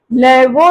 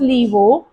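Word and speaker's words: levo: लेवो rotatory. Mind spelling, it इज नॉट लीवो, इट इज लेवो rotatory, जिसको आप स्मॉल एल और माइनस से रिप्रेजेंट करते हो।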